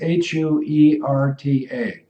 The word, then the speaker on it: Huerta: So I'll spell it and then you pronounce it. It's Huerta.